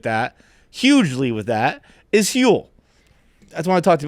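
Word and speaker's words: Huel: hugely with that is hule that's why I talk to about hule hu it's spelled h l like fuel but with an H uh it's a complete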